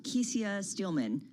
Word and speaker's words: Kecia Steelman: And talk to us about the president and the CEO, Kecia Steelman. Am I pronouncing her name correctly? Kecia Steelman. Kecia Steelman, okay.